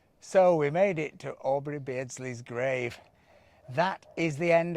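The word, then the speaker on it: Aubrey Beardsley: died at mountain so we made it to aubrey bridges so we made it to aubrey bridge how do you say it basically so we made it to aubry beardsley's grave that is the end of our first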